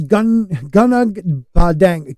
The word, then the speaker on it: Gunung Padang: But so this is Gunag Padang. God dang it! One of these days I'm going to say it right. No, not dang it. It's just Padang. Dang. That's it.